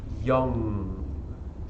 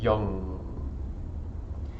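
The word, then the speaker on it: yam: chakra is the sound young it is spelled Y a.m. but it is pronounced like long but with a Y so it's like young okay and here we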